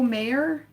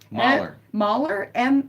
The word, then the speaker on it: Mahler: Some of those Peter O. Mayer, I'm not even sure if I'm pronouncing that right. Mahler. Mahler, M-A-H. You're like, it's not Ira. Peter O'Malley. No, it's Peter O. Mahler. Peter O. Mahler. Mahler. Made It's in German.